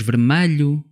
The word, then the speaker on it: vermelho: Mas nós dizemos vermelho. Parece um A, mas é um E.